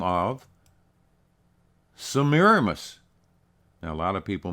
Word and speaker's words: Semiramis: and today she's known by the name of samiramis now a lot of people mispronounce that and call her semiramis but it's really pronounced samiramis originally samiramis was known by the Samaran name